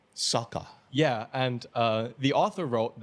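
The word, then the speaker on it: Socha: But I think it's Sokha, like S-O-C-H-A. Sokha.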